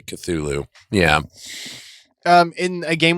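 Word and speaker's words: Cthulhu: cthulu yeah you know spell it out finel phonetically yes Kulu I've always been fascinated by the Kulu one but I I I always say cthulu yeah um in a game we play Smite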